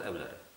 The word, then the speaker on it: Euler: Leonard Euler. Znaczy Euler się czyta oczywiście, pisze się Euler.